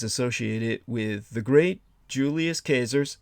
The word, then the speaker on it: Caesar: with the great Julius cers that's the correct pronunciation in the Latin not Caesar which is an Anglo corruption but CER from Once